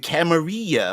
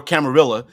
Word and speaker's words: Camarilla: The Camaria or Camarilla, depending on which side of the pond you want to pronounce it from.